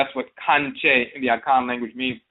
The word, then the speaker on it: Kankye: Their assumption was that we were mispronouncing the word conjure with an Afurakani southern Ebonic dialect, thus sounding like conjure, kanje. In reality, we were saying Kankye all along.